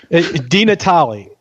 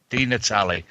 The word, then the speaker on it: DiNatale: DiNatale. DiNatale. Yeah, if you guys know that soccer player in Italy, yeah, because there's a soccer player in Italy whose name is DiNatale.